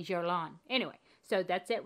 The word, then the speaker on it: Guerlain: It's a Guerlain. I used to say Guerlain, but I say Guerlain.